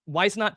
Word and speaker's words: Whisenant: My favorite is is Edgar I'm going to say his name wrong. Whisenant. Whisenant, thank you.